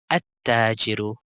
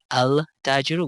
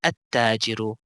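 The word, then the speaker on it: التاجر: Whenever alif lam comes before it, you will pronounce the alif, but you will not pronounce the lam. You will go straight into these letters with the alif. For example, at-tajiru. We did not say al-tajiru, we said at-tajiru.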